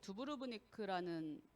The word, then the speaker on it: 두브로브니크: 잠깐 보여드리면 여기 크로아티아의 두브로브니크라는 발음 한번 해보세요 두가 두 번 들어가요 두보루브 두부 루브 그러니까